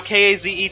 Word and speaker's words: Kaze: in this game now k-a-z-e to me uh that spells k's so uh i'm probably i'm pretty sure i'm saying it wrong in fact the developers of the game have confirmed that it is supposed to be kaze but go ahead and